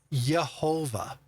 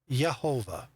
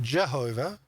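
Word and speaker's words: Yehovah: Um that it should be pronounced uh Yhovah. Yhovah, not Jehovah. So the JWs get that awfully incorrect because there was no J sound.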